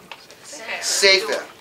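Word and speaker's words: ספר: Sefer.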